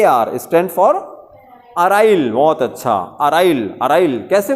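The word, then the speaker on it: aryl: लेकिन जो अराइल होता है, अराइल की स्पेलिंग बोलिए, ए आर वाई एल, ए आर वाई एल।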